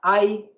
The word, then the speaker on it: I: con ay significa yo se escribe es sólo la i mayúscula se pronuncia ay significa yo usamos el